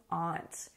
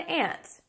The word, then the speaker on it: aunt: And that means that I won't be officially an aunt or an aunt. Both are the same. Some people say aunt, some people say aunt. However, aunts can also be the name of a little insect. But both are correct, aunt or aunt.